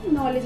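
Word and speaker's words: knowledge: तो नॉलेज में क्या होता है, के जो है वो हमारा साइलेंट होता है और सिर्फ जो वर्ड रह जाता है वो नॉलेज रह जाता है।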